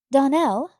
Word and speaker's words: Darnell: Darnell, accent on the last syllable, and St.